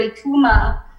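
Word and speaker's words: Eucheuma: have ecommerce deforma and i kept thinking about the word ecuma and then i said it's spelled e-u-c-h-e-u-m-a and then i said oh in krill phonetically that would be i-k-o-o-o-ma and i said oh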